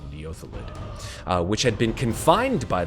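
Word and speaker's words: Neothelid: I pronounced it wrong the whole time last round. I said Neolethid. It's actually Neothalid, which had been confined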